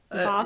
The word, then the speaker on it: Bastet: That one messed me up because it's Bastet.